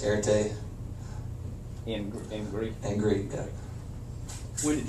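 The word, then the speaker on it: ἀρετή: show courage and when fame and honor it's pronounced airte in greek angry when did you become such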